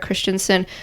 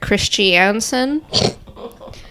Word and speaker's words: Christensen: son Eric Christensen and whenever Owens talks about Eric Christensen he he calls him Eric Christiansen um but then later in the trial he said I just found out I've been saying it wrong for years for years yeah did